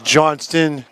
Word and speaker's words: Johnston: on Johnson this is Johnston to Johnson I was told I must pronounce the T on Casey Johnston's oh yeah by casey